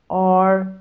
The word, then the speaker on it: are: R-A-R-E A-R-E. وخدوا بالكم ان ال E لما بتيجي في آخر الكلمة مش بننطقها وبتكون برضو silent.